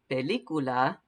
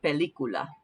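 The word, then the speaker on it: película: the letters back in so try that for pelicula we're going to say so just the letters e i u a e ah somehow that helps and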